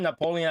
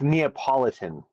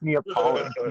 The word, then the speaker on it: Neapolitan: things he did for us man the reason Napoleon ice cream is called Napoleon is because it resembles Italian it's Neapolitan um double the Italian flag it's it's not Napoleon ice cream it's Neapolitan yeah it says sometimes who's pronounced as Napoleon